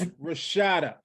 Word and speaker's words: Rashaida: Not the long A, all right, even though it's AI in her name. Say it right, people. It's Rashaida, the dynamic duo here,